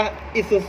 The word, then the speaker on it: Isuzu: Sir อยู่ นะ ครับ อ่าน ว่า อีซูซุ นะ ครับ รถ อีซูซุ